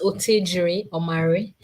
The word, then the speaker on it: Otejiri Omare: name, but tell for our audience how to pronounce correctly. Okay. So my name is Otejiri Omare.